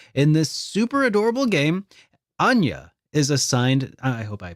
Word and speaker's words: Anya: Anya.